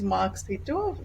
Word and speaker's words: Mark Seeto: welcome to the podcast today's our guest is Mark Sito Mark am I pronouncing it right would you like to uh no that is perfect markito that's me wonderful so Mark uh tell us